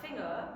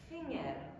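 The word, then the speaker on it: פֿינגער: Now, this one is gonna get you, because it's not finger, it's finger.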